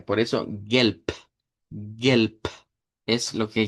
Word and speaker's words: Gelb: Se escribe con b, con la vibrante, pero se pronuncia con la silvante, es decir, con la con la p. E por eso gelp.